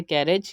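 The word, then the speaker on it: carriage: Second example है कैरेज। यहाँ पर भी हम देख सकते हैं कि ए से पहले आई आया एंड देन जी ई आया, तो यहाँ पर इसकी प्रोनाउंसिएशन हमने की कैरेज।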